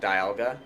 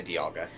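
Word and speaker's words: Dialga: Yeah, I mean I'll say both. I I'm not as picky about that one. I would I'd pronounce it diala, but if I'm just saying it quickly in conversation, I sometimes I'll say diagga.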